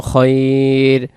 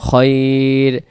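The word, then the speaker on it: خير: ওয়ানাতাওয়াক্কালু আলাইকা ওয়ানাতাওয়াক্কালু আলাইকা ওয়ানুসনি ওয়ানুসনি ওয়ানুসনি আলাইকাল খাইর আলাইকাল খইর ওসনি আলাইকাল খইর খাইর হবে না বা খাইর হবে না উচ্চারণ খয়রখর শব্দের অর্থ কি উত্তম আলাইকা আপনার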